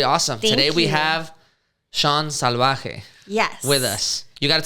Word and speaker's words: Salvaje: I get salvaje a lot, and I'm like, what? That sounds awful. Salvaje. Salvaje. Yeah. Is it salvaje or salvaje? Salvaje. Right, but perfect. I break it down phonetically for people, got it. It's salvaje. Yeah.